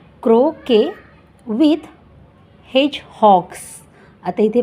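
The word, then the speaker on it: croquet: होते हे काय आहे क्रो के स्पेलिंग पहा सी आर ओ क्यू इ क्यू य टी इथे टी आहे तो सायलेंट आहे म्हणजे की crow K crow K with हेच हक्स आता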